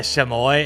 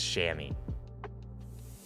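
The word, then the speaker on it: chamois: TBM's whiff races win a shamoy and shammy. That's just stupid. They should not spell it like shamoy if it's shammy.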